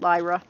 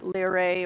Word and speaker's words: Lyra: Yeah, I'm pronouncing it Lyra. It's not Lyrae or...